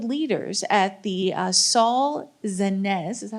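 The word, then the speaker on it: Zaentz: of Early Childhood leaders at the uh Saul zenz is that how you pronounce z zanz thank you uh education initiative at Harvard cypriana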